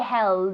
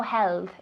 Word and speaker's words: held: a tea to hold held held we don't say hell that's really difficult in english perfect it's a t there's no tongue there's no held it's not soft it's strong held help perfect held good